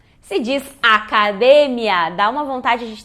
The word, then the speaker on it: academia: Se fosse academia, como economia, tem o acento no I em espanhol. E nesse caso não. Então é o mesmo caso do porque, do metro, do cerebro. São todas paroxítonas terminadas em N, S ou vogal. E por isso não levam acento.